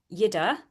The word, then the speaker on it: Jette: Lise Hansen and myself, specialising in nutrition, of course, and Yida, who it doesn't look like that's how you say it, but that's how you say it.